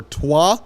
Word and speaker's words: Troyes: He's currently playing for Troyes, I believe is how you say it, in France, a team